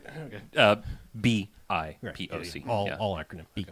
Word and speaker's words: BIPOC: using it's shortened to BIPOC. Well, I've never said that out loud, so I assume that's how it's pronounced. BIPOC like or I- just POC, Black Indigenous Person of Color.